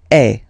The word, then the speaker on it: es: And for tu, then you've got this combination of letters, okay, but then basically the sound you will pronounce or you will produce is est, okay.